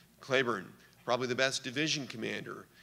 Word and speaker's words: Cleburne: and spelled the same that's how he pronounced his name Claybourne probably the best division